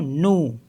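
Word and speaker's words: nous: जैसे देख लेते हैं एन ओ यू एस तो इसको पढ़ेंगे हम नू क्योंकि लास्ट में जो लेटर होते हैं वो साइलेंट होते हैं मोस्टली तो ये हो गया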